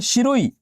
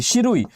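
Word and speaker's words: Shirui: के अलावा दूसरा है सिरोही और इसका वास्तविकता में स्पेलिंग यही है एस एच आई आर यू आई शिरोई या इसी को कहा जाता है सिरोही नेशनल पार्क।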